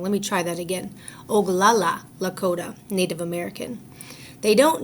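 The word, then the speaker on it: Oglala: don't notice me they don't know that I'm ogula Lakota Native American oh I think I said his name wrong let me try that again oala Lota Native American they don't know that I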